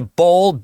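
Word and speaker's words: Boll: So, you've got a bowl o l. You spell it out.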